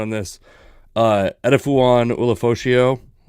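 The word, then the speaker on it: Ulofoshio: I was watching some combine stuff again the other day, and they put a little more emphasis on the last part of the name. It was more Elafashio, that kind of thing.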